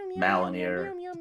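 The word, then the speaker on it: Mjölnir: I can never pronounce that thing's name right. I apologize. Mjolnir. Mjolnir. Yeah. Mjolnir, Malinir, however you want to say.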